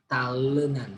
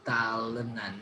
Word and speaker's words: talenan: Talenan, sorry. This is talenan, not talenan, but talenan. This is not but the schwa sound.